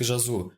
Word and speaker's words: жазу: википедии как аргумент но в казахском есть такая вещь губные гласные встречаться только в первых слогах однако они все равно произносятся в последующих слогах например данное слово мы пишем вот так но произносим вот так то есть возвращаясь к джазу еще правильнее было бы его записать вот так в чем меня кстати